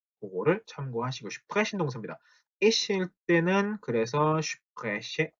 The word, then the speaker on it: sprechen: sprechen. 요렇게 단어 첫 마리 오는 sp 혹은 st는 어떻게 발음한다 같죠? 슈프 혹은 슈투 이렇게 된다고 했죠.